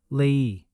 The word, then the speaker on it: leí: Leí has a clear break. Leí. 2 vowel sounds.